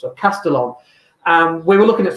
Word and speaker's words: Castellón: of Valencia and we're in a place called castellane is how you say in English English in Spanish it's caste on double alley we don't pronounce of castellón and we were looking at some of the